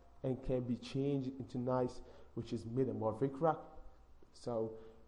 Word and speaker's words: gneiss: another rock, which called gneiss. Yes, I pronounce it well, like nice, like nice to meet you. So gneiss. This gneiss is a metamorphic rock.